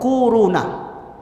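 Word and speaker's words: كورونا: kwau row nah Hai korona bacanya tuh koruna akhir-akhir ini bukan Tibet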